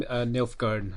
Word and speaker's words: Nilfgaard: They lost me on Nilfgaard.